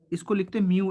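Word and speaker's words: mu: म्यू बोलते हैं इसको, म्यू। इसका प्रोनाउंसिएशन म्यू है।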